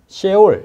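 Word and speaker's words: Sheol: 수월이 뭘까 수월에 그래서 원어를 잠시 보면 seall 이렇게 발음하는데 죽은 자의 거쳐 이렇게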